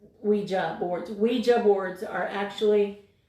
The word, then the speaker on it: ouija: the difference is luigi we it is actually pronounced ouija boards ouija boards are actually now considered to